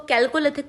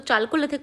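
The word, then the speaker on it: Chalcolithic: इसको कुछ लोग इसको कैल्कोलिथिक प्रोनाउंस करते हैं, कुछ लोग इसको चाल्कोलिथिक प्रोनाउंस करते हैं, और इसको हिंदी में ताम्रपाषाण काल कहते हैं।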